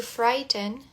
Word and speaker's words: frighten: To frighten, frightened, frightening. Perceba que esse gh aqui é mudo, tá? A gente pula aqui do fry pro ten to frighten frightened frightening.